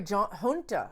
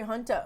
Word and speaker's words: junta: heal um a military junta junta isn't that how you say it j-u-n-t-a a military hunter that's isn't that an